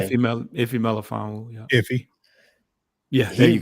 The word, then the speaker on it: Melifonwu: You said Melifonwu, pronounce his name. Iffy Melifonwu.